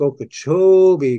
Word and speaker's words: Okeechobee: Well, one of the times when I met the Seminole chief, James Billy, he told me that it's pronounced Lake Okeechobee because the cho is like really wide.